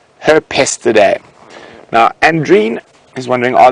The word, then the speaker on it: Herpestidae: the dwarf mongoose is oh, my pronunciation, hepstadidae. My pronunciation might be completely off, but no, not directly related to weasels, James. Now, I've actually seen Herpestidae. There we go. Herpestidae.